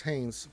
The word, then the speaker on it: Hanes: Darth Vader says, it is pronounced like the underwear. Thanks, Thane. Yeah, it's Hanes.